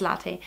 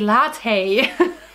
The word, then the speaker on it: latte: So if you give me a cafe latte, for example, it's so, when I speak English I always want to say latte. But that's not how you pronounce it. It's latte, so it's Italian, cafe latte.